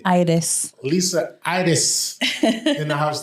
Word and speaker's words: Aires: Is it Aries? Is that how you say it? How you say it? Aires.